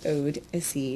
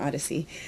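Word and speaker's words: Odessey: And I'm not mispronouncing that. It actually is Odyssey, not Odyssey.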